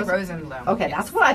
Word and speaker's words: Rosenblum: Effie Rosenblum.